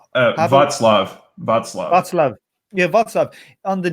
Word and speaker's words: Václav: Was it how do you pronounce his name? Václav. Václav.